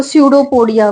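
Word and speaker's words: pseudopodia: growth नजर आएंगी इसको सूडो पोडिया बोलते हैं सूडो पोडिया प साइलेंट यर और सूडो पोडिया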